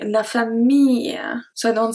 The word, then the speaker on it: famille: So we don't say la famille, we don't pronounce the L. Consider it as a long E, la famille.